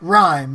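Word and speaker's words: Rime: Well, I got Rhyme, and this is how it's spelled, R-I-M-E.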